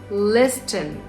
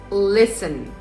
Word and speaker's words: listen: So it's not k now, it's no, it's not listen, it's listen. It's not debted, it's debt.